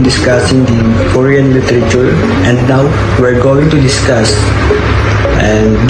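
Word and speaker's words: Noh: A haiku is a 17 syllables descriptive poem, and they have also diverse form of theater, or what they call no, N-O-H.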